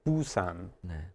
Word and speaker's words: Busan: this one okay so instead of the first syllable being ooh we've changed it to boo and if you'll notice only one thing has changed the top consonant here so instead of giving us we have more of a b sound boo okay and the second